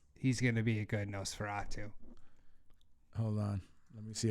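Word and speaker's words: Nosferatu: uh he he's playing NES feratu the famous Dracula from the old black and white days ah no Fatu no Fatu yeah I knew I was mispronouncing that but he plays no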